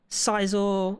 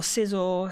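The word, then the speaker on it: Scizor: So, I've got like, see, I've got like Charizard, I got Venusaur, I've got Gengar, Kindra, Cizor, or Sizzor, however you want to pronounce it.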